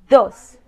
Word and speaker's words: dos: Dos.